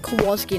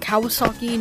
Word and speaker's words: Kowalski: My name, Kowalski, you pronounce it Kowalski, not Kawasaki, not Kowalsaki, or any of those other ways. It's Kowalski.